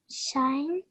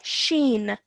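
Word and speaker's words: شين: Shine. Okay, nearly there. Sheen. Seen. Yes, well done. And what's the difference between these two letters in terms of how they look? Sheen has 3 dots.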